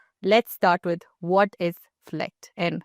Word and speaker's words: Flekt: start with what is Fleck and how did you come by the name of it? Am I even pronouncing it right? Yes, that's the right way to say fleck.